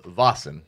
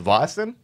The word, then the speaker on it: Vaesen: of rather wrong ways ultimately learning a little bit of swedish i determined that it is pronounced vosin and we're going to